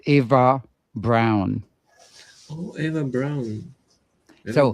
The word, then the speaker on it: Ava: The main female robot character in Xmachina is named Ava. You pronounce it like ava with the emphasis on the first syllable.